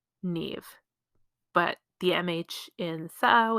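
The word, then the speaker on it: Niamh: look at something else like the name Neve for example the m and the H at the end of that name create a v sound so it's n i a m h and that becomes Neve but the MH in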